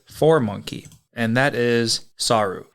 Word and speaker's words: saru: the Japanese word for monkey and that is saru saru is spelled s a Ru and saru is obviously